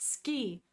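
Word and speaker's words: 好き: and then kasuki this oh it's pronounced ski sogoski now I know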